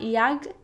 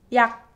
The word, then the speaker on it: 약: So it's not yag, but it's yak, yak, yak.